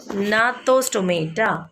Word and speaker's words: Gnathostomata: Agnatha and Gnathostomata. What is it? Agnatha. Okay, Agnatha and Gnatho. See, G is silent there.